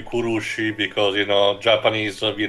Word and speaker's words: Kurushi: Kashi in Europe the the correct pronunciation this should be kurushi because you know Japanese